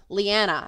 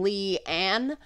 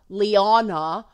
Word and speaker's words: Leanna: I am the Southern Leanna, as in Lee-Ann. I am not Liana, but people say my name Liana all the time, and I think it sounds kind of pretentious.